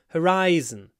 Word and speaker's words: horizon: might understand you but the correct word is horizon horizon hor Horizon so the sun rises from